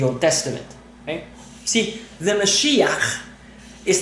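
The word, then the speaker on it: משיח: The Mashiach, and that's how they say it, with a ch, okay?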